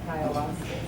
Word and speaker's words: ayahuasca: Some folks talk about astral traveling, et cetera, and the use of ayahuasca, is that how you say it?